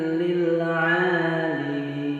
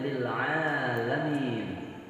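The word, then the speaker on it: لِلْعَالِمِينَ: Kadang ada yang keliru membacanya. Sering terjadi kekeliruan dalam bacaan itu. Ya, mereka membacanya lil 'alamin. Ya, jadi ada harakat yang harus diperhatikan di situ, yaitu lam berbaris kasrah, bukan berbaris fathah.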